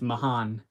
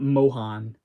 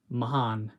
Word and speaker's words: Mohan: It's Mahan, not Mohan. Mahan.